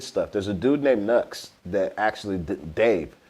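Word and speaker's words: Knucks: And then there's a dude named Nux that has a song called Leon the Professional. Nux is spelled K-N-U-C-K-S.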